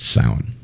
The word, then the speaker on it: Samhain: which looks like it's spelled samhain but it's pronounced sound all right rod this question is for you